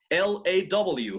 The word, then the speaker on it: law: L-A-W. How do you say lay in English? Law. Law. That's right. Law. Very good. Noten, no law. En inglés no hay low. No low.